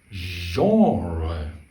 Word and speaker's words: genre: Now, for example, with French words, we have the G, which in Dutch is ge, but in French it's more like je. Take a look at these words. Garage. Horloge. Or at the beginning, genre. Notice that each one have kind of like a Z sound to it.